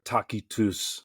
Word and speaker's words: Tacitus: Tacitus or Takitus as his Latin name would be pronounced.